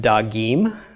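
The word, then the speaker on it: דגים: So chirik under the gimel, followed by a yod, followed by a final mem. The word is now pronounced dagim, fishes.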